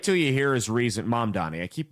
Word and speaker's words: Mamdani: And he supported Zamdani. And wait till you hear his reason. Mamdani. I keep mispronouncing his name.